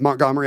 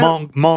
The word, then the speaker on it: Montgomery: It's like when maybe, we probably don't pronounce the T. Yeah, Montgomery.